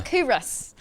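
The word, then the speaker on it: Culross: In Coorus, am I saying it correctly now, Fat? You are. Coorus.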